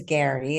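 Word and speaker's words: Gerry: you read um he his name is Gary it's spelled g e r r y yeah it's really confusing Gary turner He's from the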